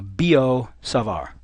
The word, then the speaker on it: Biot-Savart: and I believe that the proper way or at least a somewhat more proper way than we as English speakers might uh think of pronouncing this law is the boo SAR the t's are silent here's a simple example